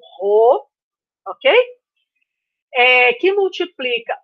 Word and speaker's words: rho: Onde a resistência é igual à resistividade do material, e essa letra que é uma letra grega que a gente pronuncia como Rho, ok?